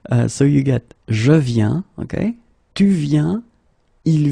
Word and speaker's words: viens: Okay, and phonetically it's it's the same form. So you get je viens, okay, tu viens, il vient, elle vient.